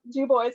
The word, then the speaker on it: Dubois: I know it runs counterintuitive, but yep, Dubois County.